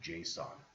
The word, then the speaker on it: JSON: All right, this chapter ends by talking a little bit about JSON. That's how it's usually pronounced, not JSON, JSON.